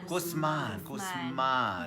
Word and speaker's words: Guzman: Guzman. Do I say it right? Guzman.